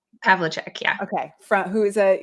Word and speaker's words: Pavlicek: Did I pronounce that correctly? Pavlicek, yeah.